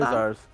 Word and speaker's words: Quasars: How you pronounce that? Quasars. Yeah, like a W.